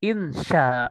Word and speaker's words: insya: Insya, jangan pakai y. Sya, biasa sya, sya.